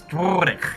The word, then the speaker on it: Drorik: Exactly, because I was yelling at you for saying my name wrong. It's Drorik, you scumbag. Well, this is a new character, right? Drorik.